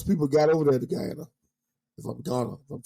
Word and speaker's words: Guyana: is when those people got over there to Guyana, if I'm Ghana, if I'm saying it right. No, you're right. Guyana, they were forced at gunpoint.